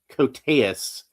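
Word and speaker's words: Koteas: Uh, how was that name pronounced again? I actually went and looked it up. Cotus.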